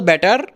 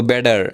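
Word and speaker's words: better: এইটাকে শর্ট ফর্মে বলা হয় ইউঅল, ইউঅল, ইউঅল ব্যাটার। এখন ব্যাটারকে আমরা কি বলবো? ব্যাডার, ড ড, কারণ আমেরিকান সাইড টি সবসময় ডি এর মতো উচ্চারণ হবে যদি ভাওয়েলের মাঝে থাকে।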